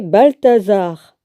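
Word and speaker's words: Baltassar: En l'an 3 de Cyrus, roi de Perse, une parole fut révélée à Daniel, surnommé Balthazar. Normalement, c'est comme ça que ça se prononce.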